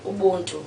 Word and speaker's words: Ubuntu: Ubuntu. Ubuntu. Okay, I'll try to say it right. Like the software system, like my name.